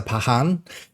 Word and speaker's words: Pakhan: And that is of course the Pahan as I've been informed on how to pronounce it.